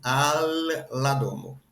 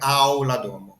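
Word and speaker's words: al la domo: Então isso aqui primeiro a gente pronuncia assim, al ladomo, não é a ladomo, certo? Não, pelo amor de Deus, não fale esse l como u igual a au, certo? É al, porque o al a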